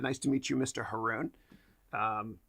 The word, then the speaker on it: Haroun: to meet you Mr Haroon um most people say Mr heroin oh the way you'll remember my name is Haroon rhymes with pepper you'll never forget it